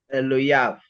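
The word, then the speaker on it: אֱלֹהָיו: Just think hav and just try to remember not to pronounce the yod there. Elohav.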